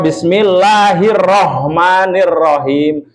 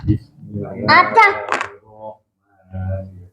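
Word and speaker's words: بسم الله الرحمن الرحيم: Bismillahirrahmanirrahim. Nah, itu kurang shaddah, Tuan. Bismillahirrahmanirrahim. Tahan, lalu lepaskan. Tahan, lepaskan, seperti itu.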